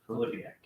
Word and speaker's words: Filipiak: Shannon Filipiak? Is that how you pronounce it? Filipiak. Okay, I had it right.